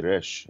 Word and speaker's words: resh: Oh, I was going to say, the way you phonetically pronounce this letter is not like in Spanish with the R, with the tip of your tongue, but it's from the back of your throat, like you're gargling water. Or like a gargling scope in the bathroom.